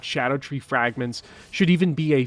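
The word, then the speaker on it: Scadutree: and yes it's pronounced Shadow tree because it uses Old English spelling conventions like ever jail or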